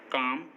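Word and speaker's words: calm: एम से पहले, काम, बाम, पाम, आमंड, इन सभी वर्ड्स में एम से पहले एल आया है और एम से पहले एल हमेशा साइलेंट होता है।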